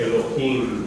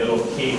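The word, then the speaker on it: אֱלֹהִים: to elongate the sound of it, Elohim. At the end, Elohim. Or what? Elohim. Elohim. And so you elongate this syllable here.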